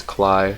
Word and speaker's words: CLI: it to neocli um i pronounce cli as cly so sorry if you're not used to that it's just how i read it in my head um so now i